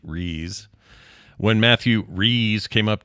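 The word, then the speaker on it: Rhys: late March was about the pronunciation of the name rise or phonetically re when Matthew re came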